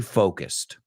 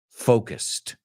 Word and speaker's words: focused: Why couldn't the astronaut stay focused? Why couldn't the astronaut stay focused? Y pronuncia esta palabra, por favor, conmigo. No es focus o focus que he oído. It's focused.